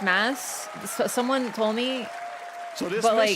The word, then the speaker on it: Mads: Yeah, apparently it's pronounced mass.